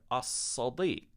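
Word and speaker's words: الصديق: So here's a new word, as-sadiq. Notice that sa absorbs the L in alif lam.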